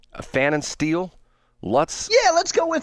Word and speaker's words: Pfannenstiel: I'll take a guess at the P is silent. Pfannenstiel?